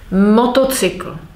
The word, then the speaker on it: motocykl: Motocykl. Stress is on motocykl.